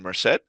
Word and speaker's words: Merced: I'm your host, the Good, and today we are joined by Madeline Merced. Did I pronounce that right?